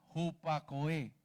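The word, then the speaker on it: ὑπακοή: en el cincuenta y dos dieciocho que se pronuncia jupacoe así lo así escuchar con atención significa escuchar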